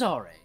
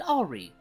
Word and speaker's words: Aure: It's French. Everyone else just pronounces it Aure, so don't be ashamed to call me that.